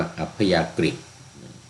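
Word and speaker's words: อัพยากฤต: ศัพท์ บาลี อัพ ยากต ที นี้ เวลา เขียน เป็น ภาษา ไทย จะ ใช้ อักษร สันสกฤต ก็ ตัว นี้ จะ ออก เสียง ว่า อัพ ยากฤต แต่ ว่า ตัว นี้ เป็น อัพ ยากต เป็น ภาษา บาลี เรียก ว่า สังขาร นะ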